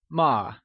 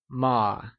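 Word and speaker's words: 吗: learn how to pronounce ma as a question particle ma is pronounced using a neutral tone which carries a soft falling sound as if the sound is fading away can you try and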